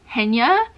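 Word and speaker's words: Jenia: name is Jenna and yes it's spelled with an i and that's because my name is actually intended to be pronounced hennya but I just go by Jenna because why not I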